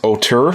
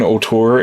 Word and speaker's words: Auteur: Apparently it's pronounced Auteur, so this is Auteur. It's or Auteur.